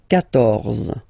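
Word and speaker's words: quatorze: So remember Q and U here. Well, basically you get to put this U vowel, because that's the rule in French, even if you don't pronounce it, okay? So you will get the sound K here. K, 14, 14, okay?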